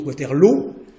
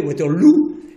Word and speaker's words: Waterloo: Parce que Wellington a trouvé que Waterloo, qui se prononce Waterloo, mais ça pouvait se prononcer en anglais Waterloo, et ça faisait effectivement beaucoup plus british.